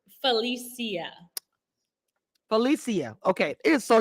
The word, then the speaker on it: Phalisia: right how do you say your name correctly Felicia Felicia okay it is so unique my name is but my name is pronounced I sto correcting people it takes